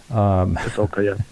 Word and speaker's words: Pasulka: We had over in the YouTube chat, we had Diana Pasulka. I probably pronounced her name wrong. Pasulka, yeah.